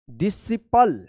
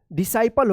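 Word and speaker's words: disciple: Seizures science scene Saint scenery scenic scenario ascend descend fascinate कॉनशस muscle miscellaneous डिसिपल डिसाइपल होगा sorry डिसाइपल रिससी सेट देखिए यहां पे रिससीटेड रिसिटेट पढ़ा जाएगा।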